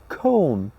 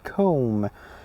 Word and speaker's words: comb: It's not bomb, the B is silent. It's climb. When you climb a mountain, climb. Comb, okay, comb.